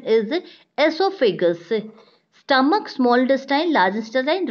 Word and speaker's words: esophagus: of the mouth a student this esophagus don't pronounce also figures the correct pronunciation is esophagus stomach smaller style largest design rectum and ns